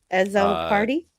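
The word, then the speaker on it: Azzopardi: As a party. Phonetically. Yeah. as a party is how it's phonetically spelled and lord th confirms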